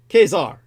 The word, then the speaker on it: Caesar: which is an anglicization The Original Latin you pronounce the C like a k so the way the Latin people pronounced Caesar was ker Kazar and the germanization of